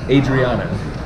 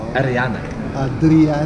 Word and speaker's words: Adriana: I know this lady, and her name is Adriana, but that's not how you say it. It's Ariana.